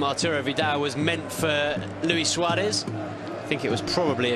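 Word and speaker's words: Luis Suárez: Luis Suarez, rather, in the Uruguayan pronunciation, heading back across goal, off target on that occasion.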